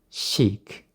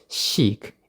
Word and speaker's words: chic: Chic. Be careful how to pronounce this word. It's chic.